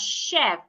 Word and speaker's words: chef: So if I want to pronounce the first word, I will pronounce it as chef. The ch should be sounded like sh.